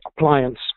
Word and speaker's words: ApplianX: with an x but you've probably caught on by now as i've been pronouncing it appliance so it is the